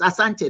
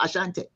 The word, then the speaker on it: Asante: just correct them and let them know there's no H in Asante. There's no H. It's Asante, not Ashante.